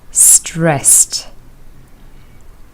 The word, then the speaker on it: stressed: Stressed, ed is pronounced with t, stressed.